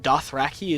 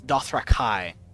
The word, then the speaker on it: Dothraki: Also, I'm also learning that Dothraki is the wrong pronunciation. It's Dothrakai. Fucking George.